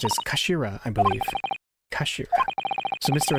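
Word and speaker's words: 頭: written in his head in Japanese but it's pronounced as Kashira I believe kashir so Mr ahsoki's words really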